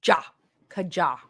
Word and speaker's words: Kaja: does oh from the Kaja website it's pronounced Kaja meaning let's go in Korean got it thank you so I'm so is it jaw or jaw the way you spelled it it's ja Kaja oh my goodness him